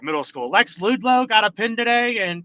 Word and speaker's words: Ludlow: It's good, man, but we got to say it right, brother. It's Lex Ludlow.